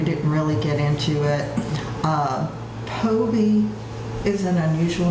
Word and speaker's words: Phobee: So she spells it Phobee, and called me Phobee. And I just tell people the H is silent, because the PH does not sound an F. Yeah, because you get Phobee, you get Phoebe.